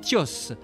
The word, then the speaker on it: Thios: Pour les Blancs, il est Monsieur Georges et pour les Kanaks, il est Thios, prononciation de son prénom en langue.